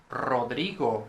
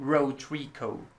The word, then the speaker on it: Rodrigo: pronounce a because uh english speakers usually say k when first they say this and then they say k k no then rodrigo no rotrico okay rodrigo o e o